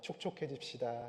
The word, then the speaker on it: 촉촉해집시다: 촉촉해집시다. 이렇게. 네. 발음 주의하셔야 돼요. 축축해지면 안 되고 촉촉해져야지.